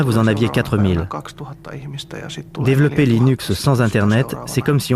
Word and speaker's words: Linux: Eh bien, je prononce Linux comme Linux. Cependant, si vous êtes Linus Torvalds, vous le prononcerez sans doute Linux. D'un autre côté, si vous venez de la côte ouest des États-Unis, vous pouvez le prononcer Linux.